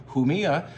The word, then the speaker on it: Jumilla: Starts with a J, so you pronounce that with a sound. Jumilla is the land of Monastrell.